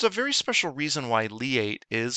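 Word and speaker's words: LIATE: worth mentioning there's a very special reason why lee eight is spelled l-i-a-t-e we don't want any any kind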